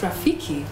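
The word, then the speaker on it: ROFFEKE: It's spelled R-O-F-F-E-K-E, but it's pronounced Rafiki because the motto is friendship, fun, freedom.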